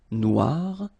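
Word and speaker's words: noire: So phonetically it is exactly the same. Noir.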